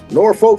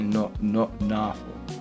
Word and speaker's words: Norfolk: Norfolk, Virginia. They don't say it. They don't really pronounce the R and stuff. They be like Norfolk or something like that.